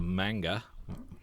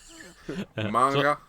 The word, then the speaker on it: manga: have said it mang manga manga manga um and in Samurai Godzilla weighs in with definitive information he says in English manga's man sounds like Batman in Japanese manga's man sounds like monster so basically both pronunciations